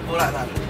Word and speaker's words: Puraran: Binurong Point and Puraran. Puraran. Ganun bang pronunciation? Puraran. Puraran o Puraran.